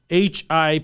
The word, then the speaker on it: Hippolytus: of hippopotamus um in the way you say his name is uh h-i-p-p-o-l-y-t-u-s hippolytus of Rome and he